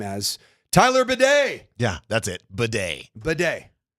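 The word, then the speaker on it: Badie: it is it is in the Broncos official pronunciation guide as Batty B A Y hyen de on the pronunciation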